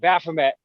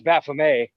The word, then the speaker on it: Baphomet: esoteric topics and um when we said baphomet she corrected us that it's baphomet and so then you know we had a little discussion briefly about how that there really isn't a guaranteed pronunciation and nobody knows for sure but that you know whatever you prefer is fine and somewhere in that